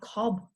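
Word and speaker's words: Cobh: court in ireland and it's now called cobb that's how you say it okay this is a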